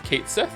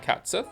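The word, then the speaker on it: Cait Sith: or re rebirth, whatever they confirmed that the name is a mispronunciation that sounds how that sounds how it reads. So So it's Kate Sith, it's not Cats Sith.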